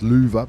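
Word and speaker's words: Löwe: Finds the Louis, the Tier 8 Premium German heavy tank. We know it's pronounced Luva, but I don't want to sound like one of those people who's pronounced...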